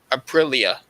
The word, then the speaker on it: Aprilia: And Aprilia, that's how you say it, sixth, they have 23 points.